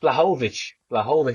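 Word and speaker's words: Błachowicz: I think that's Oh, how Blachowicz. That's how you say it.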